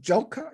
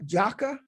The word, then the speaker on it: Diop: diop and you said that name is pronounced as uh joker jocker in his book the